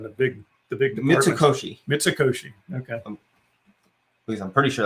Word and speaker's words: Mitsukoshi: one in japan the big the big mitsukoshi mitsukoshi okay please i'm pretty sure that's how it's pronounced let me just yeah mitsukoshi good bless you speaking of japan that was